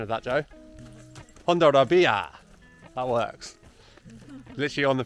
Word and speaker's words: Hondarribia: So the place that we're staying near is called HONDARRIBIA. How was my pronunciation of that, Joe? HONDARRIBIA.